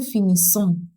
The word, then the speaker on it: finissons: finit, on finit, nous finissons, nous finissons. This is an S sound. Deux S en français se pronounce S. So double S in French is pronounced as S.